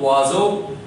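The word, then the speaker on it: oiseau: O-I gives wa sound, S coming in between vowel gives a sound, and E-A-U, you have just learned that it gives O sound. So all the syllables together give rise to the sound wazo, which means verb, wazo.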